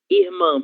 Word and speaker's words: irmã: Mas, porém, todavia, nós temos algumas palavras, como a palavra irmã, por exemplo. Nessa palavra, a sílaba tônica será man, certo? Irmã, ok?